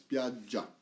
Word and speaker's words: spiaggia: probably know for sure and make sure of course soft G with the double right GG spiaggia perfect then this was it